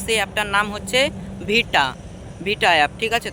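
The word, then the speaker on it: VITA: দেখো যে অ্যাপ থেকে তোমরা মিউজিক নিবা কোন কপিরাইট দিবে না সেই অ্যাপটার নাম হচ্ছে ভিটা। ভিটা অ্যাপ। ঠিক আছে? তো আমি বানানটা বলে দিচ্ছি।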